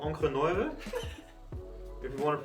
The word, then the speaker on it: Encre Noire: It's called Encre Noire, if you want to pronounce it in the right German.